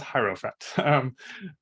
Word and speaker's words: Hierophant: The pronunciation is Hierophant character.